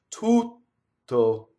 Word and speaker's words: tutto: How do I do double T? Same way, stopping phonation. The word all, tutto, right? You go up to the T, you don't say it. Tutto.